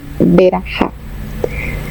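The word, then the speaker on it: ברכה: de la raíz BRK, que se puede pronunciar Berajá, que está relacionado con 4 significados: bendecir, abundancia, prosperidad y arrodillarse.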